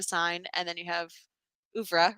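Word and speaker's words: oeuvre: Is it the French word? Yes, it's a French word. Ufra. Uffra. Okay. Probably that's how you say it in French.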